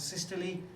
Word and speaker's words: systole: We've got this word systole, spelled systole, but we pronounce it systole, and we got spelled.